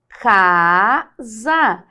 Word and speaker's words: casa: são os fonemas ó casa inclusive esse S aqui ó ele é um som de z Então veja que nós